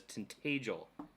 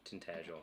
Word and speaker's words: Tintagel: it always the same he's saying tag like badge tintagel okay it's integral all